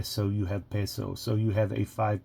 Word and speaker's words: peso: I'm from English but I believe that has more of a Latin pronunciation so the I would be an A so you have peso so you have a